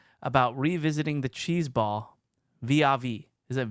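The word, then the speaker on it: vis-à-vis: He says, I'm sufficiently baked to ask about revisiting the cheese ball vis-a-vis. Is it vis-a-vis or vis-a-vis?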